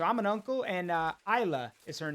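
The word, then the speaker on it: Isla: Isa. It's spelled I S L A, but the S is like silent, so it's Isa.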